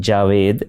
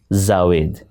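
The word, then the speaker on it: جاوید: Many people think that if it is Urdu, it must be with the sound Z, and they embarrass themselves by pronouncing the word or the name Javed as Zawed.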